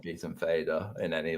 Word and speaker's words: Fader: Because I think it's supposed to be father and motor is supposed to be mother, right?